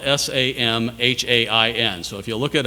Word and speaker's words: Samhain: a 48 hour festival called the vigil of sahlan now it's pronounced solemn but it's spelled s a.m. h AI n so if you look it up it's looks